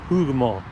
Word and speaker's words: Hougoumont: some signs for Hugo keep saying it correctly over over and again hugar hugar Farm looks like there's a